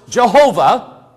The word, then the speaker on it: Jehovah: in Hebrew yo hey ba hey which is pronounced Jehovah they're going to which is translated as Lord